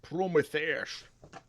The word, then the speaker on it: Prometheus: It's pronounced Prometheus.